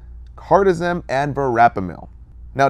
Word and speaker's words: Cardizem: Now, cardizem ends in zem, so think like yoga zen, like perfectly calmed and relaxed heart, lower blood pressure.